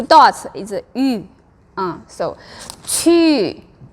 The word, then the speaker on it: 去: That's one reason why many students, when they go somewhere, the pronunciation is wrong, because they try to say u. It's ü, so very clear is ü, so it's 去.